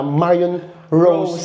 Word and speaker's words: Marion Roos: Ang pangalan niya ay Marion Rose. Yun kasi yung spelling niya R O S. Pero kapagka binabanggit pala siya, Marion Rose pa din.